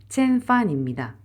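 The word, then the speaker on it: 千帆: 본토 발음으로 하면 일성, 치엔판입니다.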